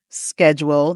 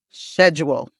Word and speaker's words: schedule: And that's the sk sound sound in the British schedule that you may have heard. It sounds more like a shh schedule.